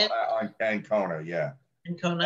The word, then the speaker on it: Ancona: Ancona, yeah. Ancona. I keep thinking it's like the snake, Anaconda, but it's no.